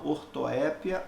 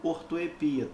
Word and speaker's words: ortoépia: específico de estudo se chama ortoépia ou ortoepia tanto faz e ela fonética também